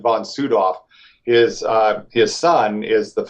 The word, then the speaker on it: von Sydow: Sydow I believe right he pronounced it von soot off his his son is the miss actor Max von Sydow as Americans call him